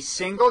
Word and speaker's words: Singal: TV you are Jesse single you pronounce it like like singles bar I do yeah we